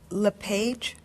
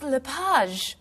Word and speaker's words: LePage: just a few minutes is your last name pronounced leage it's leage actually oh that's beautiful thank